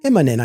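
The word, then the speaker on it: Immonen: Is it Imminent? Imminent, I believe, is the pronunciation.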